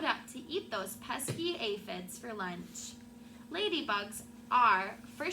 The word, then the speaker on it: aphids: sad day when the aphids pronounced aphids aphids arrived they are some